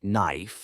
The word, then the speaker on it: knife: can be tricky too some words like knife and Knight have letters you don't say which can confuse use